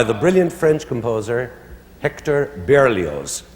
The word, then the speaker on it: Berlioz: brilliant French composer Hector Berlioz. That's Berlioz, the Z is pronounced.